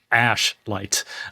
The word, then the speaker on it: Ashlight: this correctly because this is very easy to mispronounce this, but it's called Ashite. Ash light and it is a granular synth engine essentially